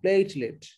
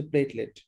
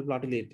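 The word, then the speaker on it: platelet: আপনি গুগল ডিকশনারিতে যান, গিয়ে সার্চ দিয়ে স্পিকারের টিপ দেন, দেখবেন বলবে প্লেটলেট, এভাবে বলবে, ঠিক আছে? তারপরে আমরা শিখলাম উচ্চারণটা হচ্ছে, সঠিক উচ্চারণ হচ্ছে প্লেটলেট, তবে অনেক ডাক্তাররা উচ্চারণ করে প্লাটিলেট, এই এর কারণ কি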